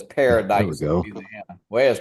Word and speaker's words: Paradis: It says Paradise, go. Louisiana. Where's Paradise, Louisiana, at, Joe?